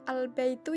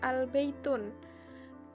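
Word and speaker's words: البيتُ: yaitu diawali dengan Al contohnya albaitu bacanya albaitu Ya bukan albey tune Kalau tidak ada airnya berarti dibaca baitun Dibaca tanwin tapi kalau ada al-nya dibaca albaitu domah Hai kemudian yang terakhir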